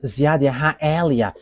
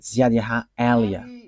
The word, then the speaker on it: Ziadiaha Elia: that is my name, so I pronounce it as my father pronounced it, Ziadiaha Elia.